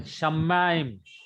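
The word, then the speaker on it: שמים: Then Shamaim. Shamaim. Heavens. See, the Shaman. accent is on mem, so you have to stress the word mem. Shamaim.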